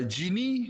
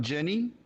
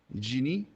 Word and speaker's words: genie: so some pronunciations uh genie not jenny jeannie it's basically the english word for jin the name of the